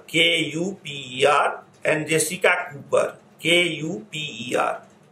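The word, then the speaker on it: Kuper: encyclopedia edited by adam cooper k-u-p-e-r and jessica cooper k-u-p-e-r some people pronounce has cuber also do not get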